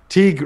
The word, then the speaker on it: Teague: Teague Robertson $5 pronounced like league, but with a T.